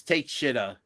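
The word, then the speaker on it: Takeshita: we got kosa teesa defending against Ricochet teesa take Aida is what it's spelled kind of like oh Jesus it's take sha not take take sha uh I think I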